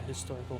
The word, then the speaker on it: historical: If you don't pronounce the H and say historical, which is also wrong, then you can say an historical. But it's an A, you say historical.